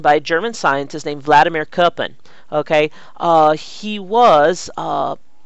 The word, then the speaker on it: Vladimir: But in German, we pronounce the V in Vladimir with a W.